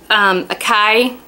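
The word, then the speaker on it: açaí: Next is the Akai. You know that berry that's spelled A-C-A-I, which I'm probably saying wrong?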